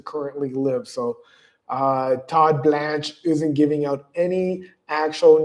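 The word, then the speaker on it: Blanche: The Department of Justice stance, Deputy AG Todd Blanch, that's how you say his name.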